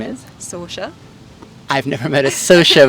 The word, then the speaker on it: Sorcha: Sorcha. I've never met a Sorcha before. How do you spell it? Sorcha. Sorcha, Sorcha. Sorcha. And then the CH makes more of a sh sound. Like Charlotte or something.